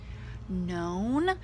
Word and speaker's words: known: W and then of course known also has the silent K with an Anna PN